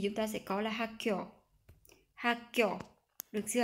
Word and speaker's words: 학교: của kyo thì chúng ta sẽ có là hakyo hakyo được chưa ạ? Hakyo rồi chorop hako ha hakyo nghĩa là trường học trường học hakyo chorop